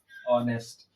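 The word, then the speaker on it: honest: इसको क्या पढ़ेंगे नेस्ट इसमें भी हमारा एच जो है वो साइलेंट रहेगा अगर हमें इसको लिखना है तो इसको क्या लिखेंगे नेस्ट कुछ इस प्रकार से लिखा जाएगा ऑनेस्ट तो ऑनेस्ट में अ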